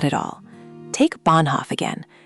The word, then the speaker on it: Bahnhof: Bahnhof, train station, long A. because of that H after it. Bahnhof. The H is silent, but it's a flag saying hold the vowel.